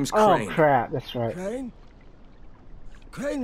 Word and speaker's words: Crane: name is carly Pratt crane rhymes with train and pray and sane